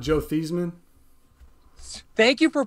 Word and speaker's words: Theismann: He changed the pronunciation of his name when he was a senior in college because he wanted to win the Heisman. So he had everybody pronounce his name as Theismann. It is not Theismann. It's Theismann. It's definitely Theismann.